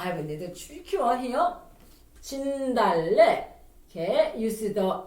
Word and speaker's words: 진달래: 진달래.